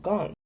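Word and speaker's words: gqom: African style of music called gong. This is how it's actually pronounced. My American ass just can't do it.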